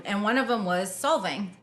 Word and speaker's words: Solvang: back down um and one of them was solving right is that how you say it yeah